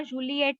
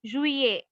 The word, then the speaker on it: juillet: जूलियट नहीं, जुए.